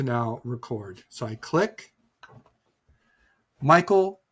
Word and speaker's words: Michael: D and then oil Michael Doyle then three phonetically. So, how about cycle for Michael and Royal for Doyle?